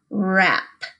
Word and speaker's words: wrap: stretch those sounds out wrap and remember that it has a silent letter hmm wrap if you